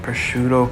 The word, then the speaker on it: prosciutto: We got some prosciutto cut up.